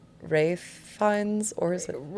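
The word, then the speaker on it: Ralph Fiennes: And then do we say his name Rafe Fines or is it Ra Rafe Fines?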